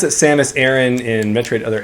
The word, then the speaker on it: Aran: Technically it's Aron, but you know, can't really do the Japanese rolling R when you're doing something in English.